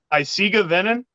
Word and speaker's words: Eisige Venen: So the name of the project is, I'm going to let you pronounce it, Marc, because go ahead. Eisige Venen?